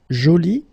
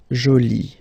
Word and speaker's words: joli: Okay, so you can see that you put this e, but then you don't pronounce it. Okay, so it's joli. So basically the two adjectives, masculine joli and feminine jolie, are pronounced the same way.